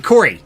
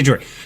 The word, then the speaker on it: Corey: Corey, thank you. I was going to say Jory.